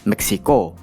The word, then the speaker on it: Meksiko: Huruf X berubah menjadi KS dan huruf C berubah menjadi K. Meksiko.